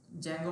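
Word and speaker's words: Django: Python पे जो website बनती है ना वो जेंगो बोलते हैं उसको। डी साइलेंट होता है।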